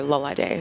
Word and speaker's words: Lolade: And my Instagram is spelled LOLVDE. Like the V is an A for Lolade.